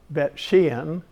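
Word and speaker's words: Beit She'an: And one that's rather significant because you can go see it is in Beth Shan, or Bet Shean. The town is pronounced over there.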